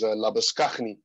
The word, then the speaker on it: Labuschagne: here in South Africa, the Afrikaans way of pronouncing it is Labuschagne. So they put like a Dutch swing to it, a very guttural kind of sound.